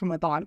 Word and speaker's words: Ramadan: it's fairly easy okay here's how you say it ra not Ray raw the r and a